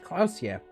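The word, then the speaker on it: Klaasje: Klausier is pronounced Klausier.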